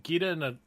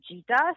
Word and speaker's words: Geeta: And both French and Chinese, the G sound of Geeta is pronounced J. So everybody calls me Geeta. So the fact that you're even calling me Geeta is a win right there. It's fine.